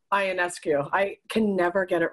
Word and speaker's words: Ionescu: And it is Ionescu. Ionescu, I can never get it right.